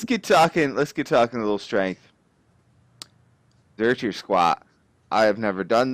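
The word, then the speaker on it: Zercher: So, Zerker. Is that how you pronounce it? It's German. Reich. Yeah, it's German. Zerker.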